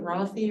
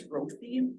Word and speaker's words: Rothy: Is it Rothy or Roth? It's Rothy.